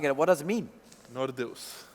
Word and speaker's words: Nordeus: Is this Nordeus or Nordeus, or what's the right Serbian way to pronouncing it? What does it mean? Nordeus. Nordeus.